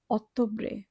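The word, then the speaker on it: Ottobre: অক্টোবরে, এখানেও double T আছে, এখানে আমরা ত এর মতো উচ্চারণ করব অক্টোবরে।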